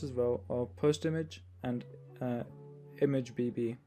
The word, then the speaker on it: ImgBB: A few other great free options that work just as well are PostImage and ImageBB, that's spelled IMGBB.